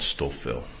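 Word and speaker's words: Stouffville: the outskirts of Toronto in an area called stoil stoil can you spell it please oh s t o u f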